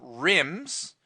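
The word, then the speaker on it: RIMM: Ram they came on rims which by the way r-i-m-m does not stand for anything it just rhymes with The Sims and dims okay so it's rambis's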